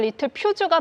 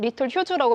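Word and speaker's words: Littelfuse: 원래 발음대로 하면 리틀 퓨즈가 맞는데 네이버나 구글에서는 리틀 휴즈라고 표시돼 있더라고요.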